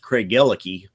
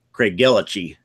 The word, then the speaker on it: Craigellachie: Probably the biggest one, though, was when we got the first Craig Gellicky. True. And I would have wanted to pronounce it Craigellachie. Right. Craigellachie. Right. Would be the American pronunciation.